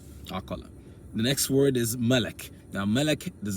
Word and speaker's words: malak: Malak as the root, actually, it's actually pronounced malak. This is the original way it's pronounced. So the root actually is lam, alif, kaf. Now, with time, people saying malak, malak, malak, malak, malak, malak, it becomes malak. It sounds like malak.